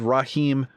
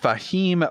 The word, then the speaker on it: Fahim: Raheem, I keep wanting to mispronounce it, but Fahim Rahman coming in there in 13th place.